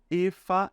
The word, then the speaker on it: Eva: hams é o homem Efa é a mulher tá Gente esse é ver aqui ó a gente vai pronunciar como se fosse a letra F Então a gente vai